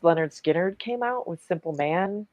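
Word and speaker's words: Lynyrd Skynyrd: Leonard Skard, pronounced Leonard Skinnard came out with Simple Man and Give Me Two Steps.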